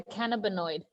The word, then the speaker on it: cannabinoid: How do you say it, Leslie? Once more. It's the cannabinoid. Cannabinoid, yes.